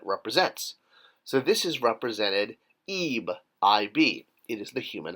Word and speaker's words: Ib: So interesting here, same as the last word we did, and here, because of the determinative of Ib, you could pronounce it Eb, Eb.